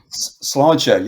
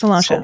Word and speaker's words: sláinte: Sláinte, yeah. Just Salancha. Okay. Sláinte basically means health. It's derivative well, not a derivative, but Irish is a Germanic language. So, in French, you have santé. In Sláinte, you can see Right.